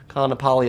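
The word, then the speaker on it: Kāʻanapali: by the way in my west Maui video I butchered uh how this is pronounced Kapali is how it's pronounced and so the Hyatt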